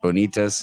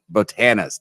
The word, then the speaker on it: Botanas: Do I say it right? Bonitas. Is that how you say it? Botanas. Damn, why do I say Botanas from Bonitas? That's what it is, right?